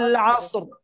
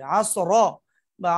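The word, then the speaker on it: العصر: মস্ক করতে হবে ওয়াল আসর আসর আসর আসর আসর মানে র এর উপরে যেন কোন হরকতের ভাব না আসে আসর বা আসরু এরকম না আসর রটাও সাকিন সাকিন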